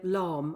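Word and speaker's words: Lahm: And that was the earliest opening goal of any World Cup since 2006 when Philip Lom, I think that's how you pronounce his surname.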